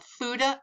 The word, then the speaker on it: FUTA: federal and state and these are called futa and suda and that's how you pronounce it so let's take a